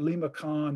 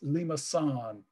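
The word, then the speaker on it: limaçon: that, I'll just say, we expect a Lima sign, this is the Cedille, the soft C in French, and they're similar in Spanish. But it's not Lima con, it's Lima san.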